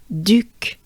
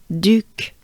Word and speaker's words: Duc: ba Le and then Duke Duke so it's the French version of Duke right now Duke Duke the u sound you can think of it to pronounce it as making a droopy face you drop your jaws